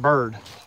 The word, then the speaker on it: Baird: Zebulon Baird Vance. I've heard people pronounce it Bird.